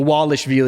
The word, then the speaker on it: Dvalishvili: The Wallace Vill is how he is how he said the in in Georgia in in Georgia the V's are like W.